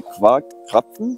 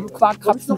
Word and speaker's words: Quarkkrapfen: Ja, heißt es Quarkkrapfen? Ja, Vorsicht, das habe ich so gut ausgesprochen? Quarkkrapfen hast du super ausgesprochen. Am besten geht es auszusprechen, wenn du den in den Mund steckst und dann nochmal Quarkkrapfen sagst.